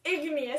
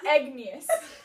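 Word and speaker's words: igneous: pronunciation first of all first of all it's ignas not egus second of all it's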